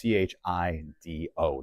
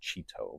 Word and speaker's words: Chido: And I want to stress that's Chido, not Cheeto, but Chido.